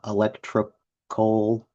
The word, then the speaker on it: Elektrokohle: They're electrocoal. It is spelled Elektrokohle.